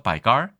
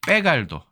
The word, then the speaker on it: 빼갈: 점도가 높지 않습니까 그래서 간을 백갈 이렇게 얘기해서 바갈 예 그래서 백갈 갈로 됐다 바갈 이거를 우리나라 사람이 듣고 그죠 이건 빼갈 발음하면 좋겠다라고 해서 빼갈 주도 고량 주도 결국은